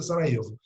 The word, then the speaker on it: Sarajevo: O arquiduque está indo visitar a cidade de Sarajevo, né, escreve Sarajevo, o J pronuncia Sarajevo, capital da Bósnia.